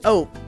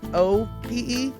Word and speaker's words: ope: It's sort of like an oops, but it's pronounced ope. You know, like nope, N-O-P-E, only it's O-P-E, ope.